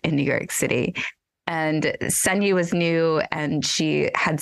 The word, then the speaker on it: Ssanyu: And Ssanyu was new, and she had said to me,